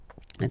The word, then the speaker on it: as: So, masculine form, he, okay, il, he, elle, she, okay, and then a. So, as you can notice, second form, as, is pronounced a, and this is a, same pronunciation in both cases, okay?